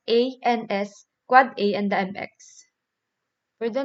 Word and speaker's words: AAAA: So it's pronounced as so the AAAA, so it's pronounced as the quad A, and the MX it is a mail exchange record.